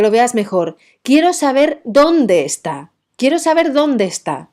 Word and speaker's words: dónde: veas mejor quiero saber dónde está quiero saber dónde está ese donde sube y el segundo en el que no lleva tilde dice estará donde esté fíjate que el donde esté baja donde está donde esté